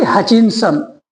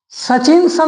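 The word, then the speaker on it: Hutchinson: अब प्रश्न उठेगा हु इज the author of pace for living तो लिखेंगे आरसी हचिनसन हचिनसन ऐसा होगा हचिन सन सचिनसन नहीं है हचिनसन है तो इस प्रकार से इसका उच्चारण होगा अब देखिए होता क्या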